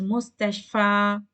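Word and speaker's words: مستشفى: So you will not prolong the sound as mustashfa.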